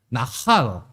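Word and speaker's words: נחל: 지금 여기서 사용된 나하르라는 말이 있고 나할, 약간 발음은 비슷하지만 약간 달라요.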